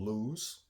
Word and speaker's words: Lew's: This is by a company called Lew's. If you can see here, that's how it's spelled.